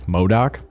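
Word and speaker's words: MODOK: been a lot of screenshots I've seen of Modoc Modoc Modoc yeah that's how you pronounce it and it is the same actor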